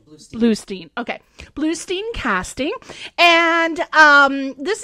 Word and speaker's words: Bluestein: Bluestein or Bluestein? First one, Bluestein.